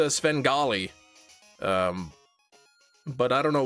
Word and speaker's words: Svengali: Heard you aren't a bit a big Svenly fan. It's pronounced Svengali.